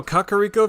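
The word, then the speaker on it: Kakariko: Kakaro Village. I was right. That's how it is. That is how you pronounce it.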